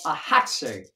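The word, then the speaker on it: axatse: and this is called a hat say a x a t s e but the x is pronounced like h a hot state and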